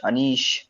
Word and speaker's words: Anish: pronounce it exactly yeah it's anish it's so some people call me anish aneesh yeah whatever whatever you feel it call me what whatever it is yeah it's anish awesome uh here's the hands